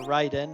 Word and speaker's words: Raiden: Raiden, or Raiden as it should be pronounced.